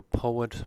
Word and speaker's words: poet: poetry poem problem modem for poet poetry and poem between the o and